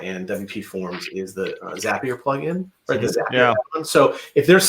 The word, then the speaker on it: Zapier: pronounces it right I I pronounce it zapier because I think you're creating a zap we've had this I've heard from the developer through a podcast that he says zapier and he says apps but that that's you know